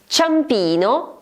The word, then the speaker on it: Ciampino: Ciampino is written with CIA, therefore answer number 2.